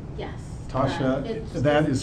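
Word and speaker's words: Tosha: um TSH am I pronouncing that correctly yes Tasha that is spelled t o s h a wonderful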